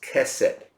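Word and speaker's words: chesed: kind of I give you the word we pronounce it as Cosette but it spelled c-- h e s e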